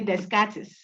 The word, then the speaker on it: Descartes: People say Descartes. He's a Frenchman. Okay. So you say it like you wanted to say today, day. Then car, as in a car that you are riding. So Descartes without the last words.